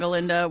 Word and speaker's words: Galinda: fight scene, but it's funny between Elphaba and Galinda, where it's more like physical comedy kind of thing.